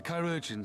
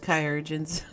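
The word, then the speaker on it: Chirurgeon: of us the the chirogens say i'm healing well so it won't be long now it's pronounced kyogen's oh my god your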